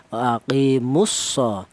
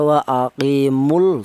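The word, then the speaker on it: وَأَقِيمُوا الصَّلَاةَ: Wa aqimus tidak dibaca wa aqimul enggak. Karena apa? Lam matinya dilebur ke huruf shad.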